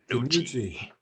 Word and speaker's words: DiNucci: Danucci? DiNucci. Ben DiNucci. How His weird. name rhyme with Gucci.